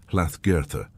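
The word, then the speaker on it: Hlaðgerðr: The most likely old Norse form would have been hagoda, pronounced something like hlath girtha.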